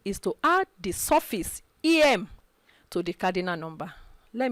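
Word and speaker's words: ième: just add surface okay i e m e that is pronounced em to the cardinal number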